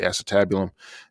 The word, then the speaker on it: acetabulum: called the acetabulum so with that how you pronounce that word the acetabulum and you have a really strong bone that